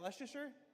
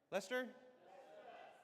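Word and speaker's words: Leicester: How do you say, is that Leicer? Lester. Lester.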